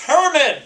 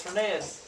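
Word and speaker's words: Hernán: and my my students are always like it's herman i don't like no it's not it's hernan anyway hernan cortez and you can spell this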